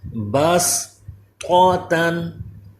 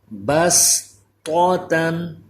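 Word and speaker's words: بسطة: پر کریں گے، یبسطو۔ اسی طرح اس کلمے میں بھی صاد کی بجائے سین پڑھیں گے، جب ہجے کریں گے اس وقت بھی سین کا نام لیں گے، با سین زبر بس، بس طوطن، یہ طا حروف مستعلیہ پر، اگلا تا باریک، بس طوطن، سین بھی باریک۔ اس میں آپ کی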